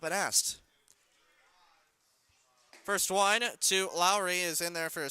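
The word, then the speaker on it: Laurie: That brings up Josh Lowry, not spelled, his last name not spelled like Jed Lowry. L-A-U-R-I-E. Lowry.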